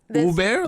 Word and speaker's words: ube: ube or oob. Blue bear? Uber, like this- Uber.